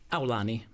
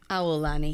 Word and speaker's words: Aulani: But how do you pronounce it? Aulani. Aulani. Yeah, Aulani. Aulani.